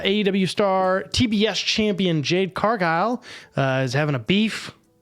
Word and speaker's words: Cargill: me pull it up Argyle sorry I think it's cargile if you're from this area of the country there's a meat packing plant called Cargill and that's how it's spelled uh but I believe